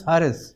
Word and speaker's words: Haris: It's pronounced as Harris.